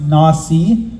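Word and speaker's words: נשיא: but the Hebrew word for this Prince is pronounced Nasi which means an exalted one or a chief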